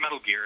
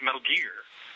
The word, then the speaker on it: Metal Gear: and they said no it's not metal gear it's metal gear I said well why is it why is it that and they said it just is say it like that they said say it like Richard Gear so that's what's running